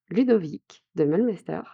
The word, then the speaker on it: Ludovic de Meulemeester: I am pleased to welcome Ludovic de Meulemeester on this podcast !